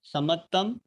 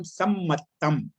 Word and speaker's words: सम्मत्तम: एक मिनट थोड़ा सा आपका उच्चारण आपने शुद्ध पढ़ा, पर थोड़ा सा आप इतना ध्यान रखिए कि जब हम जहाँ द्वित्व आता है जी जी, वहां पे उसी रूप में बोला, जैसे जीवादि सद्दहनम सम्मत्तम।